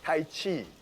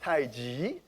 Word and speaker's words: tai chi: sometimes we mispronounced as tai chi which many of you because it says chi for many years i should be pronounced tai ji g means opposite contrast